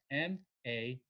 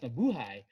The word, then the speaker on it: mabuhay: Because, phonetically, we say Hay as hey. Yeah. So I was like, no, it's, sorry, it's pronounced mabuhay.